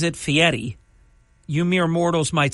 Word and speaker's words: Fieri: it's got to be good chicken guy he pronounces it Fetti you mere mortals might say fi but it's not really Fier it's fiti um but leave that to your train broadcasting